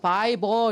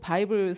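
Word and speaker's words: Bible: 성경 바이블이잖아 그랬더니 아니요 바이버 이렇게 하셔야 돼. 바이버 따라해보라고. 그냥 보라는 거예요. 그러니까 얘는 영어를 배워본 적이 없으니까 L-E를 어떻게 발음한다 이런 건 모르고 바이블 스펠링도 못 쓰고 그냥 바이보라고 하면 돼요.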